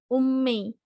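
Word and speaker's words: 運命: Kalau di belakang huruf ada huruf M gitu ya. Dibacanya ini biasanya jadi double kayak mei. Kan tadi mei ya. Kalau untuk ini misalkan mami memo itu jadinya ummei gitu. Jadinya ummei.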